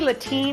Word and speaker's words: Latine: I say Latine because it rhymes with saltine and I like it.